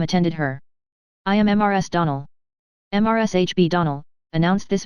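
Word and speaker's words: Donnell: morning connected with the Donal children Clarice alir told me that you pronounced our name Donal now Miss Shirley the correct pronunciation of our name is Donal Accent on the last syllable I hope you'll remember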